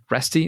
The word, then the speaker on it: Reste: because we have Kevin Ry with us today resty is that is that the way to pronounce it yeah yep yep you're one of